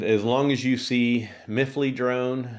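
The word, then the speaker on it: MiFly: you see miffly drone it's spelled myfly mi separate word fly i call it miffly drone because they used to make it as one word m-i-f-l-y and i've always just called it miffly drone but i'd have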